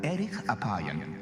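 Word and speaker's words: אֶרֶךְ אַפַּיִם: En hebreo, la frase lento para la ira se pronuncia erich apayan, literalmente de larga nariz.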